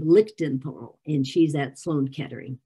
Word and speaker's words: Lichtenthal: working with wendy little and lillian paul little lichtenfall is how you say her name lichten paul and she's at sloan kettering in new york